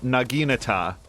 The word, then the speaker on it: naginata: now I need to remember to pronounce it naginata because I've never said it that way and I'm going to